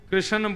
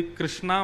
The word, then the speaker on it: कृष्ण: लाल की जय बंधुओं कई लोग इस नाम को अशुद्ध बोलते हैं कई लोग कृष्ण बोलते हैं कई लोग कृष्ण बोलते हैं कोई कृष्णा बोलता है भगवान का नाम शुद्ध उच्चारण करो नाम क्या है कृष्ण भगवान जय श्री कृष्ण